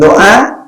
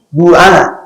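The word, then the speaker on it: دعاء: Nah, inilah posisi penting doa dalam amalan keagamaan. Nah, namanya ad-du'a. Kalau ditulis dengan bahasa Arab, ad-du'a, kita membacanya do, padahal dalam aslinya bukan do, tapi du'a.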